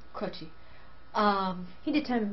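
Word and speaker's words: Croce: Anyway, um, is it pronounced Croaki? Crochi.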